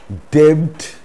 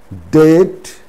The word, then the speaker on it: debt: is used before t there are a few words in which the b is silent before the letter t these words are date date it's not debt debt doubt subtle subtle it's